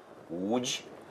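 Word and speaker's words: Łódź: І в них є оце тверде «Л», так, яке вони не вимовляють майже «У». «У», вони кажуть. І ось перекладачка мені написала, що або «Ломжа», або «Удж», так, «Лоць», або «Уцк».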